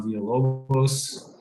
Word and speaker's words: Villalobos: And then today with me, I have Villalobos, and I'll let do a quick introduction to himself as well.